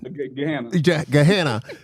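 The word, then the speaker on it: Gahanna: What's your name how you pronounce the town? Gehanna.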